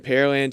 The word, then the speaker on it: Pearland: here in pearland texas for a lot of people curious about the pronunciation pear land the land where they grow pears it's easy way to think of it it's not where they have pearls there's no lake or deep